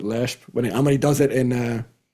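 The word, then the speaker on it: Leshp: But I totally trust Robbie Culshaw's pronunciation, and he pronounces it Lehsp.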